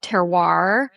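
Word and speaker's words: terroir: Oh, I've been planning travel for a while, but the idea of teroir and pulling I'm glad you said it that way. I couldn't pronounce I knew it was like cool.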